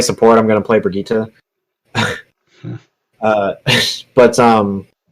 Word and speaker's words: Brigitte: A lot of people dropped off the game though when Brigitte came out because she's kind of like a beast. Oh, And it's not pronounced Bridget. it's not Bridget, it's Brigitte.